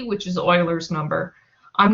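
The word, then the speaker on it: Euler: it's actually named after Oiler it's not pronounced oer uler it's pronounced Oiler um he was the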